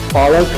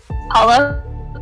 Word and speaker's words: Palak: The Starbucks barista getting your name wrong, or your friends calling you Palak instead of Palak?